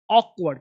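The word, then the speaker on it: awkward: अकॉक्वर्ड नहीं। ऑकवर्ड।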